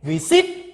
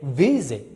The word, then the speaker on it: visit: what do you say do you say we sit or visit you say visit no stress that's why you cannot